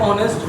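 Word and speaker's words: honest: तो मैडम कहती है बेटा एच साइलेंट रहेगा, ओ की आवाज आएगी, ओ है तो इसलिए हम वोवेल लगा देंगे, एन ऑनेस्ट girl, an ऑनेस्ट बॉय।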